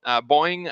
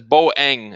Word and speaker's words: Boeing: going to talk about boing again and I'm told I'm pronouncing it wrong uh yeah Stephen said it's boang it's two syllables I like boing it